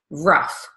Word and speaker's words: rough: same Oh ugh spelling the gh here is pronounced as an F rough so even though it